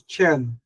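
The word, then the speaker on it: חן: Number one yung favor in the ancient Hebrew language it says chine or chen or ken but the proper pronunciation is chen that is favor grace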